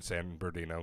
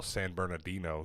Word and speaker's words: San Bernardino: She was born in San Bino, California. Um, I didn't even say that very well. San Bernardino. There's an extra syllable in the middle there.